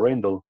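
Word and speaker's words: Rijndael: Por eso seleccionaron a ese otro algoritmo, que en inglés lo pronuncian como Rendell.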